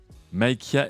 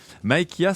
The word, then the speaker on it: Mikea: Mikea, c'est un vrai prénom? Putain. Peut-être qu'on va m'apprendre que... Non, ça se prononce à la française comme Charlie Danger.